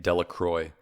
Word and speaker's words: Delacroix: Jones and Dicky delaqua the villagers pronounced this name delacroix eventually made a great